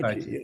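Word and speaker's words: стукачи: Stukachi, is that how you pronounce it? Yeah, Stukachi, Stukachi.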